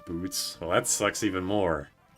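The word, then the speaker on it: Butz: Butts supposed to be pronounced boots.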